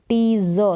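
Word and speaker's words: tease: हैं तो टीज करना टीज ज उच्चारण है एका टीस नहीं बोलेंगे टीज करना यानी किसी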